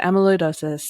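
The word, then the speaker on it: amyloidosis: much less remember um it's like Amy and then Lloyd and then dosis so if that helps you amid um so amiloidosis is how it's said and spelled and it's hard for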